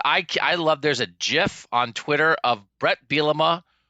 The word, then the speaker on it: GIF: guy you're not a gif guy you're a gif guy oh no we're doing that now oh no I'm a soft G that's discussion for another